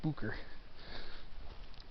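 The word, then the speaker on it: Boucher: consider hiking up to bucher hill lookout i think that's the true way to pronounce that b-o-u-c-h-e are supposed to be bucher i'm here on this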